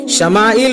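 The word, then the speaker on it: ישמעאל: نام اسماعیل رکھا گیا۔ عبرانی میں اس کا تلفظ شمائل ہوتا ہے۔ عبرانی کے شمع اور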